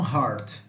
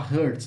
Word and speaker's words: heart: Tem pessoas que pronunciam essa palavra errado, né? Fala hurt. Não é hurt, é heart. Heart. Palm heart. Tá? Palm heart. Palmito, tá? É como se nós não pronunciássemos esse E. Esse E vai ficar com som semelhante a A, tá?